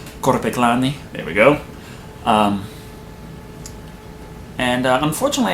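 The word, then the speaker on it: Korpiklaani: And on top of that, I also like folk metal with Korpiklani. I didn't pronounce that right. You're supposed to roll the R. Korpiklani.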